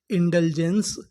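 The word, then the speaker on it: indulgence: इंडलजेंस।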